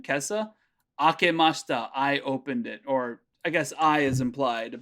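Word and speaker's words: を: You'll find it written in here, Romaji sometimes as W-O. That's what I thought. Okay. It's not pronounced wo. It's pronounced O.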